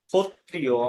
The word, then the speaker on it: ক্ষত্রিয়: যেমন রয়েছে দেখুন, ক্ষত্রিয়, আমরা বলি না ক্ষত্রিয়, যে ক্ষত্রিয়রা যুদ্ধ করতে এসেছে, কিন্তু যখন ক্ষত্রিয় থাকবে তখন এর উচ্চারণ আসবে ক্ষত্রিয়া। ক্ষত্রিয়া, ক্ষত্রিয়া, এরকম উচ্চারণ হবে।